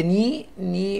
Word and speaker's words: knee: بعد كده knee الكي سايلنت.